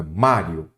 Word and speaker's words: Mário: trago o mestre Mário Qual é a sílaba tônica Mário é o má então a sílaba tônica é a penúltima Então ela é uma